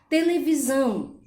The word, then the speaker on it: televisão: Televisão. O são é a sílaba também mais forte presente na palavra televisão.